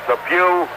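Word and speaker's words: Pough: And the other man number 85 is Ernest Pew. It's PO U GH but pronounced as Pew in church this being Sunday.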